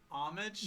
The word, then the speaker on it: homage: By the way, it's pronounced homage, There's not a lot. homage. There's a lot of, How about y'all? You're like homage. Homage. You go homage. It's called an homage. You don't pronounce the H Bruh?